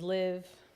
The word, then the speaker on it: LIVt: My name is Liv. T is silent as we've learned today.